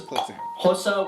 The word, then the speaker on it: Xhosa: Those are English, Afrikaans, Indebele, Pedi, Sotho, Venda, Xhosa, and that is Xhosa with a click, that's how you pronounce an X, Swazi, Tsonga, Tswana, and of course Zulu, with Zulu being one of the most spoken languages.